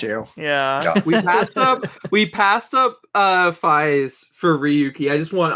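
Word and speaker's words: Faiz: It is Fies, right? Like yes, rhyme, and with how it's called, slant rhymes with fives.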